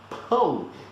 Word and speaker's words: pão: So the word for bread in Portuguese, pão, is nothing but pound without the N and the D.